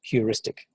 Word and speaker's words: heuristic: And the word is pronounced heuristic.